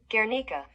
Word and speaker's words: Guernica: Yes, in 1937, and it is an oil painting, and it is pronounced the Guernica. And if I'm pronouncing it wrong, here's how Google says it. Guernica.